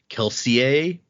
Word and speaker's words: Kelsier: And so the names the technical correct pronunciation of the names is more French. So if you were to try to be technically correct, this would be like Kelseier. Oh, but no one says it like that. Kelseier. like we we even Brandon in interviews and stuff calls him Kelsier, but uh technically the pronunciation would be Kelseier.